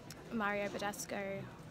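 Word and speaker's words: Mario Badescu: So for some stupid reason I didn't check to see how much my Mario Badasco, that's how you pronounce it, face wash, how many mils it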